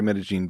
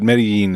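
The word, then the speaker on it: Medellín: i think the there they'd say medellin because that's kind of the accent is the on the double l but that's but medellin is would be totally fine as well what lessons do you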